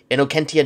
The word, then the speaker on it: Innocentia: Also, I think in proper Latin pronunciation it would be Innocentia nihil probat. Because in Latin, when you see a C, you pronounce it the hard way.